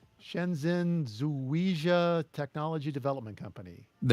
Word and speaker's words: Shenzhen: Shen Shenzen Electronics, Shenzhen Zuia Technology Development Company.